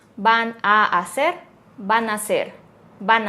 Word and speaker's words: van a: vamos a vamos a van a decimos van a van a y esta también se